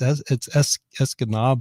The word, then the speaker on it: Escanaba: And some local goes, hey, it's Escanaba or something like that.